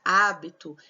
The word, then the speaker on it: hábito: Habito não tem acento, hábito tem acento. Percebe que o A é mais aberto.